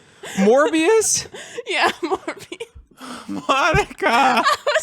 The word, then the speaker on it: Morbius: I'm saying it wrong. What is it? What's Morpheus? Morbius?